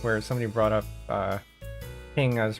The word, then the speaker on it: PNG: pull up our pngs pingi by the way is apparently supposed to be pronounced as ping as a single word I don't think I've